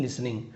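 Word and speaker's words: listening: हिम और उसे सुनकर यहां पर भी लिसनिंग टी साइलेंट है लिसनिंग नहीं लिसनिंग द एडमिनिस्ट्रेटर सेड उसे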